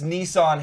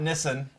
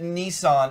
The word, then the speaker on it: Nissan: oh and yes it's Nissan here by the way not Nissen we pronounce it Nissan in the States and it's been like that for a long time we know you pronounce it Nissen in other parts of